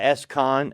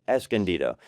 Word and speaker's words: Escondido: It's not Escon or not Escon, it's Escondido. The c l n is Escondido.